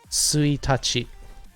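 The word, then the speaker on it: ついたち: But on the calendar, this will be suitachi. Now, yes, the kanji look the same, but the usage differs, which is why it's actually pronounced differently.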